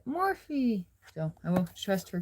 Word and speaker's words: Morphe: I thought it was Morph, but there is an E at the end. And the YouTuber who put it on that I follow, she calls it Morphe.